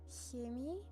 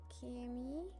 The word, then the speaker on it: Chemie: So for example, when you take the word chemie, which is chemistry, you have people who pronounce it chemie, chemie, and chemie.